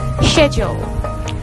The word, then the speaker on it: schedule: Do you pronounce it like schedule? No way. It will be schedule.